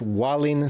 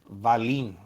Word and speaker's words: Wallin: I think you pronounce it Valin. That's how Andre Ward was pronouncing it in the. And Andre Ward was pronouncing it wrong. Okay. It's probably. I don't know. In Sweden, W isn't V.